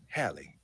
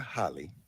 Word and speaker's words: Hallie: But the first thing I thought was, it's pronounced Hallie, not Holly.